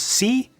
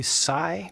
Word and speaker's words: Si: His name is C, S-I, and maybe it's supposed to be Psy, but I think it's supposed to be pronounced C.